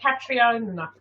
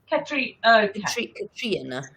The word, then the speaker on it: Catriona: Catriona. Cat. I call you Cat. Cat. It's easiest. Cat. It's annoying. It's Catriona. Catriona.